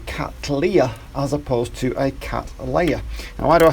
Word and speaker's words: Cattleya: Well, the guy who it's named after is a man called William Cattley. Now, he was an Englishman, and usually anything ending in ley is pronounced lee as opposed to lay. So you would expect it to be Cattleya.